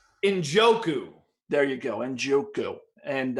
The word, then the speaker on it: Njoku: Njoku.